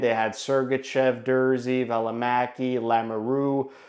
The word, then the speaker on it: Lamoureux: On the back end, they had Sergachev, Dursey, Valimaki, Lamoureux, which I'm learning now it's pronounced Lamoureux and not Lamoureux, even though I prefer to pronounce it Lamoureux. I guess got to change it to Lamoureux.